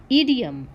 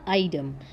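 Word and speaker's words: idiom: Next word है मेरे पास ईडियम। ईडियम या आइडम, ठीक है, दोनों भी हम किसी को भी प्रोनाउंस कर सकते हैं।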